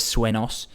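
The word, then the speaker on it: sueños: in dreams in swos swos has an accent on the end there so he's saying instead of swos he's saying so this is quite common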